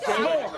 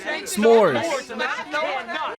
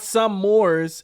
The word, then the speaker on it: s'mores: It's pronounced s'more. Yeah, it's a contraction of some S'mores. Not some mores, it's s'mores.